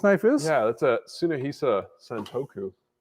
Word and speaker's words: Tsunahisa: it's listed as Tsunahisa, which is spelled with a TSU at the beginning.